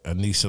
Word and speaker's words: Aanisah: my daughter Anissa Long, aka Young Colombiana.